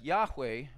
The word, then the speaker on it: Yahweh: to to America but it's Yeshua and Yahweh or Jehovah or however you want it's it's going to have the Y sound not the J sound so there's rules of